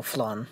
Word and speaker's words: flanged: I'm going to pronounce it that way. I've heard it a couple different ways. I'll just go flan, like the dessert.